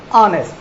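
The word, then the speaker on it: honest: हम होटल बोलते हैं, हावर बोलते हैं, हा की ध्वनि है, पर यह बोला नहीं जाता, इनका प्रोनाउंस किया जाता है आवर, ऑनर, ऑनेस्ट, होटल।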